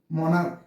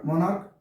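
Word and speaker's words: monarch: সি এইচ এস স্টমাক্স viewers এরপরের ওয়ার্ডটি দেখেন মনার্ক সম্রাট মনার্ক মনার্ক ক হচ্ছে এ যোগ হবে মনার্ক এম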